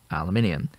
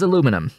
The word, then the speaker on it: aluminum: and say aluminum there there is a spelling difference as well as a pronunciation difference between uh the regions uh so we're gonna